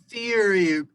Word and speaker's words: Feuerberg: The only way to pronounce it correctly is Feuerberg.